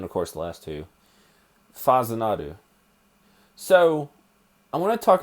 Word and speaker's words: Fazinadu: to look on google the pronunciation for the title it's faza nadu according to it in wikipedia so